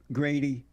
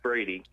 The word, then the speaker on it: Brady: black conservative Grady? It's Brady. Brady, yeah, Brady. Oh, they have a G here for some reason. It's Brady, not.